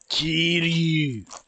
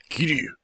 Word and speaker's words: Kiryu: And it sounds like he's saying, kill you, when you say his name. Kiryu.